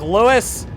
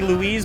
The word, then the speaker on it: Louise: How does it look, Lewis? Yes, I know your name's technically Louise, but I don't care. I'm a dumb American that just pronounces this shit wrong.